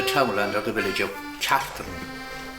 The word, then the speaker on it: Cartron: Well, we're here in the townland of the village of Cartern. It's locally pronounced Cartern, but it's spelled Cartron, C-A-R-T-R-O-N, Cartúr in Irish, which means a quarter of land.